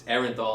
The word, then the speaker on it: Ehrenthal: Apparently, I've been saying it wrong for a couple of years now. It's Ehrenthal. Ehrenthal.